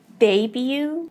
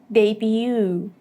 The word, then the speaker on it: debut: people would mostly say debut, debut. So in the British one, the first part is more stressed as the main stress, and in the American version, the second syllable has the word stress.